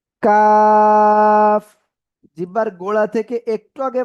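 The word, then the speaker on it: ق: কফ। জিহ্বার গোড়া তারপর আবার উপরে তালুর সাথে লাগিয়ে এই অক্ষরটা উচ্চারণ হবে কফ।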